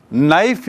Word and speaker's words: knife: ऐसी नाइफ यानी चाकू, और नाइफ की स्पेलिंग देखिए KNIFE, KNIFE, जिसमें के साइलेंट है, के का उच्चारण नहीं होता. जिस अक्षर का उच्चारण नहीं होता है तो हम कहते हैं वह अक्षर इसमें साइलेंट है. क्या है? साइलेंट, जिसे हम बोले ना, जिसकी आवाज़ नहीं होगी. बोलते समय उच्चारण में वो शब्द का जिक्र नहीं आएगा. के मतलब क, पर हम नाइफ बोलते हैं उसमें क नहीं आता, तो ये साइलेंट है.